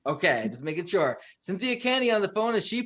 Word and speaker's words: Kania: I have Cynthia Kania on the phone. That's how you pronounce it, right? Yes. Okay, just making sure. Cynthia Kania on the phone, and she played Annette in